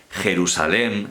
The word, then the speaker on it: Jerusalén: la tilde son facilísimas primera norma si la palabra tiene el acento en la última sílaba en la última sílaba y termina en n s o vocal como en el caso de jerusalén ns o vocal siempre lleva tilde jerusalén que termina en